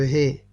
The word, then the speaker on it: ה: Et la prononciation de cette lettre, c'est He.